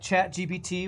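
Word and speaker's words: ChatGPT: on engines apparently jck chat GPT when pronounced in French sounds like cat I farted so whenever French newscasters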